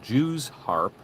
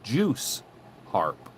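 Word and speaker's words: Jew's harp: to almost extravagant lengths he objected to the customary pronunciation of Jews harp insisting that the word should be juice harp and instructing the actor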